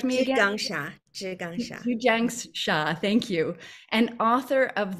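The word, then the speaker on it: Zhi Gang Sha: I feel like I'm saying her name wrong. Can you correct me again? Zhu Jiang Sha, thank you.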